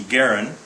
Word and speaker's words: Garand: Garand, or sometimes pronounced John C. Garand.